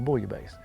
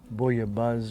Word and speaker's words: bouillabaisse: pronounce this differently but usually in in the french if there's two s's it's not the z sound it's the hard s sound so you might hear some people say boya buzz or bullio bazer i